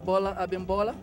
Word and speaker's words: Bola Abimbola: is one giant diverse musical event beginning with Bola embola he's coming to talk to me right now and maybe give me a better pronunciation of his name hi everybody my name is Bola abimbola Bola I'm in Bola you're opening the show